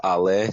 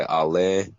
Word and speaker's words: Ali: Um, I go by, it's pronounced Ale. So I either go by Ale or.